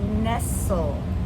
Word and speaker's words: nestle: Another silent t would be nestle. N s t l e. Now, normally we might see this as Nestle, the chocolate. But there's no accent on the e and the t is silent because that's nestly chocolate nestly.